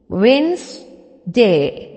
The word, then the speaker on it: Wednesday: not a witness day but Wednesday how to pronounce that Wednesday repeat after me Wes day okay very good next is Thursday repeat after